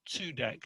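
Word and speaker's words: Cudek: shmul tudek and that although it's written kudek that in polish that's pronounced tsudeg like with a tzadik in hebrew so i guess there's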